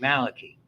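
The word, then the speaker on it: Malachy: friend was a guy named Malaki mccort who pronounced it Malaki and he married a woman who was considerably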